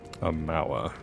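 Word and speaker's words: Aumaua: Amawa. That's how you say it.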